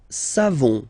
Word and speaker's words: savons: Nous savons. So classic ending for nous, O-N-S. You don't pronounce the final S. Nous savons.